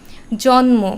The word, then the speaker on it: জন্ম: সাথে ম ফলা আছে জন্ম বা উন্মাদ এখানে ন এর সাথে আছে আবার সম্মান তখন সেটি ম এর সাথে ম ফলা আছে তো এই শব্দগুলোতে ম এর উচ্চারণটা হবে ম এর মতোই এটা কিন্তু উচ্চারণ দিত